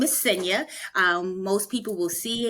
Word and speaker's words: Xenia: So, my name is SA. Um, most people will see it and they would think that because it's spelled with an X, they would think it's sena, but it's actually sa and the name the